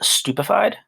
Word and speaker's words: stupefied: second word is pronounced stupefied okay you can almost think of in the beginning it almost sounds like stupid and it's basically to